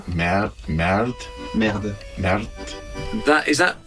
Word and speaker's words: merde: voice acting was trying to make everybody say merde and putain. All the French words, it was always lovely to try to teach them to have the right pronunciation. Merde.